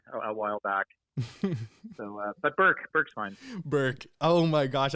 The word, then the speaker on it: Bourque: It's pronounced Bourque. It's Bourque.